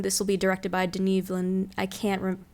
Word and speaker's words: Denis Villeneuve: And the first image from the new Dune, this will be directed by Denis Villeneuve. I can't pronounce his name. I'm sorry. Denis Villeneuve.